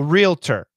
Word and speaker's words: realtor: definition what is a realtor realtor real realtor realtor and sometimes realtor with two syllables but it should be three realtor realtor realtor who